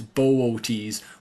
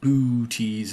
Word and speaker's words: Boötes: If we click on archers here, you can see B O for bo. The thing is that you're meant to pronounce these two O's separately. So, it's bo rather than booties like a ghost, but it is a tricky one.